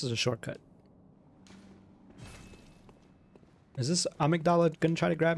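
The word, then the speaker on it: Amygdala: ridiculous okay this is a shortcut is this amigdala going to try to grab me I guess not kind of hate pronouncing it a mdala I don't know why but that's the official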